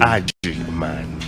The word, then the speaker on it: Agyemang: Agyemang, A-G-E. G for Germany, Y-E-M-A-N, for Germany. Y-E-M-E-N-M-A-N. G. And so, yes. And the pronunciation slowly. Agyemang.